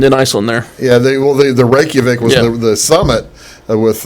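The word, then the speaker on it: Reykjavík: They pronounce it Reykjavik, not Reykjavik.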